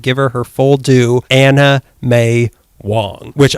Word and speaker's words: Anna May: anna mae wong which i guess i pronounce her name too fast because both you and melissa were like she's not anime yeah anime anime wong i'm not going to enunciate an a to an m sound anime wong were we